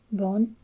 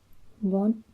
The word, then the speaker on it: bốn: So it's bon, bon. Một, hai, ba, bon. And again, it has the little hat diacritic, which basically means the O is pronounced like O instead of A.